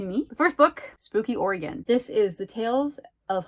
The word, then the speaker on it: Oregon: We have all over Oregon, from Portland to Bend to the beach to Eastern Oregon. I mean, all over. And yes, it is pronounced Oregon. It's not Oregon.